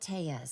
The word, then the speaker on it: Tellez: Robert Tellez. Spell it.